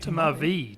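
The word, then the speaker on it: tmavé: Tamar V. Tamar V like V E.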